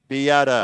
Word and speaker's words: Beata: Beata. Yeah. Okay, Just a thank correction you. on pronunciation. That's from Peter Artabello. All right. Whose daughter's playing for Mount A. Thanks, Peter. Last name is? Beata.